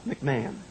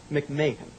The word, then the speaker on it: McMahon: your dad the movie only only you would pronounce Ed's name absolutely correctly it is not McMahon McMahan McMahan I love it I absolutely love being